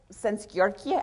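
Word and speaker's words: Szent-Györgyi: favorite definition of innovation albert since yorkie i think is how you say that he's a hungarian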